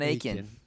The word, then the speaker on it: Akin: That's how you pronounce it? I'm sorry. Yeah, John Akin.